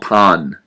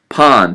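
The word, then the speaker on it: パン: bread in Japan is called pan not pan like hey pass me the frying pan okay you have to you have to adopt a little bit of a different pronunciation Pon P an and as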